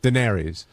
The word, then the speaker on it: Daenerys: I just How do you pronounce it? Daenerys.